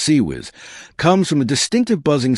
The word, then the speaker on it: CIWS: The weapon's nickname CIWS, pronounced sea whiz, comes from a distinctive buzzing sound it spinning barrels create during firing.